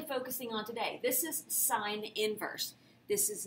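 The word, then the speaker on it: sin⁻¹: how to say this this is sine inverse not sine to the negative 1 power if i hear you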